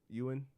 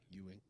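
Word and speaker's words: Steven Yeun: had to say Stephen how you say it Yan yeah Yan this is what Stephen Yuan had to ah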